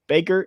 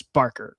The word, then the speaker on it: Barker: I'm sorry I've been saying Baker, it's Barker. Curry Barker, not Baker.